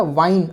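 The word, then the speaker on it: wine: ये है विन plus silent ही लगा दिया, अब ये हो गया वाइन। आई की आवाज़ क्लियर आ रही है।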